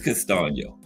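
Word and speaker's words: Castaño: I looked it up on that uh pronunciation app. It's Castio.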